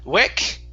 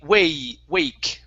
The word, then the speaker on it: wake: Long A sound instead of wek, it's a, wake.